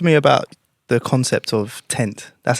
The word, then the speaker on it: 10T: so talk to me about the concept of tent that's how you pronounce it right 20 cents yeah yeah so